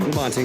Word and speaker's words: Labonte: Labonte. Labonte? Yeah. As Americanized as it gets. Think Good. of white bread when you say my name.